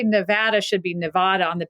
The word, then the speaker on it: Nevada: had so much documentation of Nevada being Nevada and so much has been written or uh joked about its mispronunciation as Nevada that I think it's